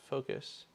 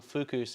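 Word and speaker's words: Fokoos: that's a good thing focus is pronounced focus huh that is a lot easier well like oh the gotcha the printer company that i've been calling fukus is focus that is way easier to say i bought one of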